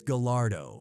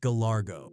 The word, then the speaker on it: Gallardo: He even corrected Soulja's pronunciation, saying it's Gallalardo, not Galargo.